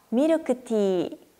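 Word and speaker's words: ミルクティー: 밀크티는요. 미르크티. 티를 길게 읽어주시면 돼요.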